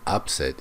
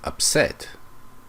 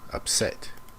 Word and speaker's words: upset: It's not upset, it's upset. The stress is on the first syllable, upset.